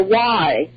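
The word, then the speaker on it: Wye: they called it the Y Institute. They just called it the Y, W-Y-E is how it's spelled.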